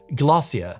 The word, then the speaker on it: glacier: as a kid but the American and me wants to say Glacier but every time a British person says it it's more like glossia obviously Brits with a